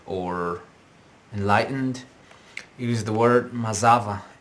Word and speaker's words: mazava: enlightened use the word mazava m a z a v a m a z a v a maava the stress is on the Z maava maava okay but there's